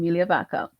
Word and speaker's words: Migliavacca: did that because a lot of persons struggle pronouncing my surname Mia vaka so Melia is easier and that's also my